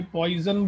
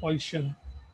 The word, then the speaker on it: Poisson: काफ़ी लोग इसे गलत प्रोनाउंस करते हैं, इसे पॉइजन बोलते हैं, बट इट इज़ नॉट पॉइजन, इट इज़ पॉइशन.